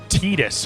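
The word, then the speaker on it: Tidus: The way that I feel about Tetus, cuz that's how his name is supposedly pronounced.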